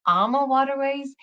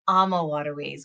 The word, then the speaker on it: AmaWaterways: by um just sharing how you even pronounce our name that a lot of folks always ask me Becky how do you even pronounce it is it amama waterways Emma waterways or AMA waterways and it's Amma waterways why because Amma stands for love and we're familyowned and